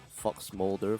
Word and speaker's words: FXMLDR: I've been told that this song is a stylized spelling of Fox Moulder from the X Files and is pronounced as such.